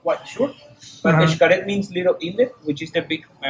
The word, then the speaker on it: Xcaret: Yes, I have heard people from South America that they try to pronounce Xcaret and they say Chacaret because they try to go one after the other. Blend it, blending the consonants.